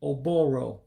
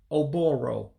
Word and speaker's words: Ụbụrụ: Blood, the life of it all, would be pronounced as Ọbara. Ọbara, blood. Again, that's Ọbara, blood. The brain. The brain would be Ụbụrụ, brain. Oh-Boe-Roe, brain.